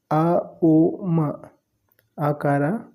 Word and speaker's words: ಓಂ: ಏಳು ಚಕ್ರಗಳನ್ನು ಬ್ಯಾಲೆನ್ಸ್ ಮಾಡುತ್ತೆ ಇದರ ಸರಿಯಾದ ಉಚ್ಚಾರ ಅ ಉ ಮಕಾರ ಉಕಾರ ಮಕಾರ ಎ ಯು ಎಂ ಅಕಾರ ಹೊಟ್ಟೆಯ ಕೆಳಭಾಗದಿಂದ ಮೂರು ಚಕ್ರನ ಅಪ್ರತಿನಿಧಿಸುತ್ತೆ ಉಕಾರ ಮಣಿಪರು ಚಕ್ರನ ಮಕಾರ ಆಜ್ಞಾ ಸಹಸ್ರರ ಚಕ್ರನ ಪ್ರತಿನಿಧಿಸುತ್ತೆ ಅ ಉ ಮ ಇದು ಸರಿಯಾದ ಉಚ್ಚಾರಣೆ ನಾವೀಗ ನೆಲದ ಮೇಲೆ ಕೂತ್ಕೊಂಡು